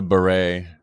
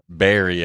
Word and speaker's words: beret: to her um no it's not sombero it's a ber actually discombobulated and all that like wow it's a beret Barry I guess she's pronouncing it and then she goes